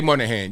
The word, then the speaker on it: Monahan: want to say the wrong thing uh Jay Monahan yes stuck with it spelled with an o m o n a h-a-n